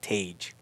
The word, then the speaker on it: Tage: It's like range with a T. Tage.